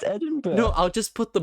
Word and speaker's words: Edinburgh: a fortnight costume uh why are you saying it Edinburgh how do you say it it's Edinburgh Adam Edinburgh yeah well it looks like Berg in U.S oh geez the UK